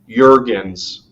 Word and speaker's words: Jurgens: for his last name the j is silent and it's pronounced as a y so you're going again jurgens the organs yup noted noted duly newton jurgens jurgen jurgen stergen flergendurgen